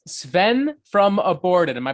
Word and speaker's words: Sven: down today i have another special guest it's sven from aborted am i pronouncing your name correctly you are pronouncing it